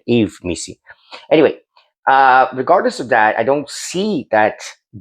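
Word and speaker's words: Yves Missi: I think that should be his pronunciation, Eve Missy.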